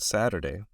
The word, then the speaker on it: Saturday: okay Saturday Saturday so listen to that Saturday and look at the T right now I am American I am from the us or the USA and in the U.S we say Saturday but in other countries